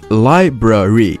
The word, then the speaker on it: library: correct and incorrect pronunciation like Library should be pronounced Library not Liberty you're in the library or what